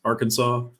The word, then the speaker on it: Arkansas: been the English so they pronounce s's differently at the end of a word as well that's that's why those